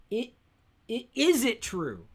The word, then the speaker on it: Izitru: Is it true? Is it true? But it's spelled.